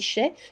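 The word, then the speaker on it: Chelly: canyon de chèques ans alors ça s'écrit shelly mais ça se dit chef qui se trouve en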